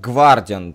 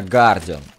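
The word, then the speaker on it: Guardian: Зюс это как Гвардиан произносится, а правильно Гардиан. То есть, если посмотреть на никнейм Владислава, там читается как Гардиан, без В. Но многие говорят, а чё он Гардиан, и он же Гвардиан. А потому что читается правильно именно так, а не по-другому.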